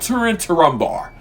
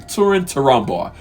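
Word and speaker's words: Túrin Turambar: Turin Turambar. That's how you say his name. Turin Turambar.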